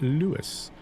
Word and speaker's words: Lewes: Flying Southerner says, as a Sussex local, it's pronounced like Lewes. Yeah, BA said it was Lewes, but I've heard other people call it Lewes.